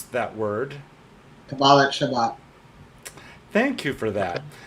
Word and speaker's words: Shabbat: There's going to be an interfaith pride uh uh Jeffrey, how do you pronounce that word? Shabbat.